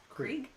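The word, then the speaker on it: Krige: Krieg.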